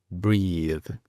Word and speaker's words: breathe: Y el verbo, en este caso el infinitivo, breathe, breathe, con una TH sonora al final, es decir, vibra, breathe.